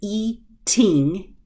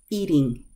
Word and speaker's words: eating: course I could say e teen e teen but when I'm pronouncing normally eating eating eating that T is releasing quicker and it's not forcing the air out it's softening to a D sound the next one I